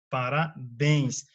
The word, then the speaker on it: parabéns: Palavras cuja sílaba tônica é a última, né? Por exemplo, funil, parabéns, rapaz. Veja bem, as que têm mais de uma sílaba classificam-se como oxítonas. Olha só, porque a sílaba tônica é a última. Não quer dizer que ela vai ser acentuada. Quer dizer que ela é mais forte.